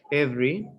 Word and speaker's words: every: and repeat the words notice that the unstressed vowels are not pronounced every different different interesting